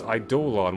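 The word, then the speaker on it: Eidolon: That's Idolon with an O at the end. That's how you pronounce it like that.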